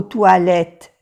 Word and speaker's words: toilettes: Vous allez aux toilettes régulièrement. Aquí no se pronuncia la X, es una X de plural y aquí también la S de plural, toilette, pero tampoco se pronuncia la E.